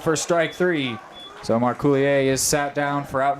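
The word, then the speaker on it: Marcouillier: weight as early as we are in So Marulier stands in. That's M A R C O U I L L I E R. Marouier. I'm just glad you pronounced the name before I had to try.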